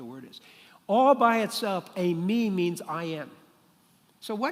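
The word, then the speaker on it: εἰμί: That phrase, it is I, is ego, that's the way it's pronounced in Greek, eimi. Ego, eimi.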